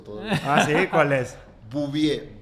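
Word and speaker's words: Bouvier: Bubie.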